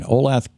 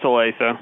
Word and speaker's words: Olathe: Drew in Olathe, Kansas. I'm not pronouncing that right, am I, Drew? No, it's Olathe.